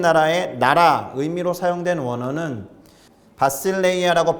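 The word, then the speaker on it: βασιλεία: 천국의 국자, 하나님 나라의 나라 의미로 사용된 원어는 바실레이아라고 발음하는 그리스어를 사용합니다.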